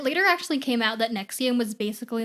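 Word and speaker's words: NXIVM: one we want to talk about is called nexium it's spelled in x i b m but it's yeah exactly but it's pronounced nexium and just to let you know like this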